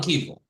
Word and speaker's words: Kevill: It's not the same, exactly the same name. But the name for us in French, it's the same Kevill, pronunciation. Cavill, yeah. Cavill. Yeah, I never thought of that. They're spelled differently, but they do sound pretty similar, come to think of it.